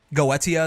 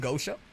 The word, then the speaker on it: Goetia: Goetia is correct. I mean, that's what the voice actor says, so I assume they told him how to say it. Now, I do like saying Gosha, just because it rolls off the tongue more, in my opinion.